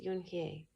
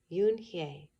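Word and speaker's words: Unhei: "Yes, it's pronounced Yunhye. And it means grace," Mr. Kim added. "Yunhye," Joey said slowly, and this time perfectly.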